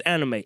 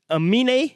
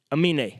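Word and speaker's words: Aminé: Like, by the way, I thought this fella's name was Anime. It's Amine? Is that how you say it?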